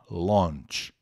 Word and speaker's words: launch: que também exige cuidados porque esse a u n tem o som de o on né na verdade on launch launch que é lançamento de